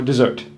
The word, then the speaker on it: dessert: Desert, the big sandy thing, has the stress on the first syllable. Dessert, the big delicious thing, has a stress on the second syllable.